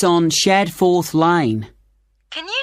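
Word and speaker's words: Shadforth: did you get the address of kangaroo Lodge yes it's on shared fourth line can you spell that s h a d f o r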